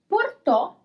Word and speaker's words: portò: Porto, without the accent. Portò, with the accent.